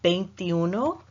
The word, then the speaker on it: veintiuno: as you can see it starts with a V for Victor in English in Spanish whenever you pronounce a V you want to think of it almost as a soft B as in boy in English so you're never going to want to say vase you know thank you those because